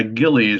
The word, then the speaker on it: Gillies: are right up there somewhere in there yeah Gillies is just how you pronounce it and that's in New York and